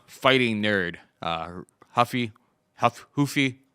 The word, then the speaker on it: Ruffy: nerd uh Huffy Huff hoofy ruffy he's Brazilian so we don't pronounce the r but uh Huffy is